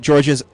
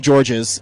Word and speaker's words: Georges: And the one part we were worried about, his last name, we always pronounced right, and his first name was actually Georges and not George.